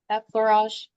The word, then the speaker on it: effleurage: I don't know how to pronounce that. Anybody can help her? She's rubbing her tummy. Effleurage.